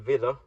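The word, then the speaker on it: wieder: prefix or there's actually two prefixes Vida and Villa well both pronounced Vita but one written with India Echo the other just India um one is against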